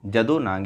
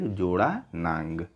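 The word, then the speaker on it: Jadonang: फिर जदोनांग या फिर जोड़ानांग। ठीक है, गलत तरीके से प्रोनाउंस किया गया है इनके नाम को यहाँ पर। देखिए, महात्मा गांधी और उनकी विचारधारा से प्रभावित होने वाले पहले जनजाति नेता थे जदोनांग।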